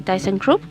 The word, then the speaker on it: thyssenkrupp: un poco acerca de thyssenkrupp que esa es la pronunciación del alemán por si acaso mientras